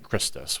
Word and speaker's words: Christus: The pronunciation was a little off at the time. It should have been Christus, which would have been the proper, Roman pronunciation.